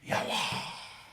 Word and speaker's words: Yahweh: Et j'ai entendu passer devant moi, un son qui faisait quelque chose comme Yahweh.